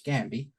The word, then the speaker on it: Gambi: worry okay is that g-a-m-b-i which I would pronounce Gabby you could spell it